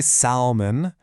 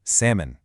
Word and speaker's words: salmon: Seriously, that L might as well not even be in the word. We do not say salmon. The correct way is salmon.